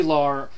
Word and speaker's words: Laurer: Joanie Laurer. It's hard to pronounce her last name without saying like Lawler. It's kind of like, you know, the King Lawler.